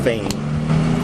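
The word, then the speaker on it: Phayme: Last name is spelled P H A Y M E, pronounced Fain.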